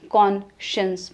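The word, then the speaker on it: conscience: spelling में साइंस आएगा पर प्रोनंसिएशन क्या है मन शन में कॉन शंस में पता नहीं कौन सी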